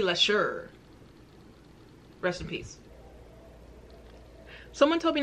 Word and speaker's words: Leshurr: talking let's get into Lady larsa I've been saying it wrong it's Lady less sure recipes someone told me